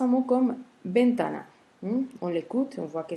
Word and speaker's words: ventana: Face à un mot comme ventana, on l'écoute, on voit que c'est un mot qui porte l'accent tonique sur la deuxième syllabe, c'est-à-dire l'avant-dernière syllabe, ta.